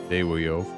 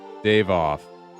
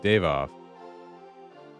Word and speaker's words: Dawiof: Dave off. Okay, Dave off. Okay. So there's got like the European V sound for W.